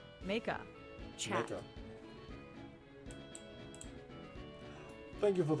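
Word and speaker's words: Meika: How do you pronounce that? Mika.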